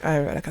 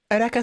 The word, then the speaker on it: Eureka: And so, like Naruto, specifically Eureka 7, Renton, I would, let me look up for Eureka 7 for you guys. It's spelled Eureka, but I'm pretty sure it's pronounced Eureka.